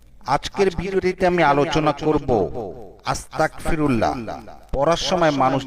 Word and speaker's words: আস্তাগফিরুল্লাহ: ইস্তেগফারের সব উচ্চারণটি হবে আস্তাগফিরুল্লাহ। কিন্তু অনেক উচ্চারণ করে আস্তাগফিরুল্লাহ। অর্থাৎ গ এর জায়গায় ক যোগ হয়ে যায় হয়তো অজান্তে।